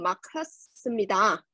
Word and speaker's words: 막혔습니다: 하지만 퇴근 시간이 어서 길이 너무 막혔습니다. 막 hết nha, đọc chữ cờ với chữ hờ gặp nhau, đọc là chữ khờ.